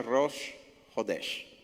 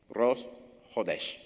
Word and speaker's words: Rosh Hodesh: La luna, el día en donde aparece esa luna nueva por primera vez se llama Rosh Hodesh. Así es como se pronuncia. Se escribe Chodes. Esa. Rosh Hodesh. Se pronuncia así.